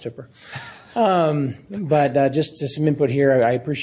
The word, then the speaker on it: Hooper: And yeah, it's pronounced Hooper.